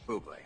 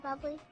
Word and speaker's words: Bublé: That's a bubble. She's right, Michael Bublé. It's pronounced Bublé. I know. Thanks. Dave. Bublé. Can I have your autograph, Mr. Bubbly?